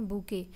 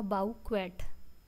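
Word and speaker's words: bouquet: जैसे इसका actual pronunciation है बूके, लेकिन अगर हम इसे स्पेलिंग की तरफ बनाएं तो ये क्या बनेगा, बाउ क्वेट।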